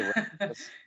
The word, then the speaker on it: Rachlis: Like it should probably be Rackless, but we say Rackless.